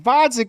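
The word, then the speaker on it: Gvozdyk: Against Vodzik with a silent G, fellas.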